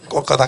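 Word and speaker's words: Kolkata: 캘커타인데 그 발음은 옛날 영국 사람들이 쓰는 거고 이제 인도 사람 오리지널 발음이 콜카타입니다. 콜카타 그런다고 콜카타인지 모르겠어요.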